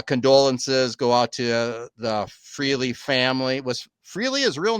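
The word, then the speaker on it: Frehley: So, of course, uh uh condolences go out to the Freely family. Was Freely his real name? Freley.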